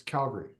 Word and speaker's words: Calgary: you pronounce Calgary um if you have the emphasis on Gary you're wrong it's Calgary yeah um just for